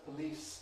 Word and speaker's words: police: These examples occur at the beginning of a word, but at the beginning of a weak syllable. Books will tell you different things about these, and it's possible that different varieties of English vary. I know I don't aspirate in this position.